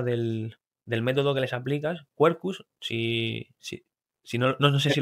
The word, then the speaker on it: Quercus: Y también he leído acerca del tema del método que les aplicas, Quercus, si no, no sé si lo pronuncio bien, Kerkus, Kerkus, Quercus, perdona.